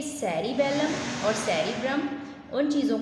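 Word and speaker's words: cerebrum: जो मुश्किल वर्ड है उसकी प्रोनाउंसिएशन बेटा अच्छे से देख लें। ठीक है, ये वर्ड क्या था? सेरिब्रम।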